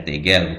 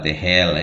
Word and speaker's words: tegel: Tegel dibaca tegel, bukan tehel.